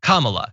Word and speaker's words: Kamala: who was on, said her name is pronounced comma, like the punctuation mark, Kamala.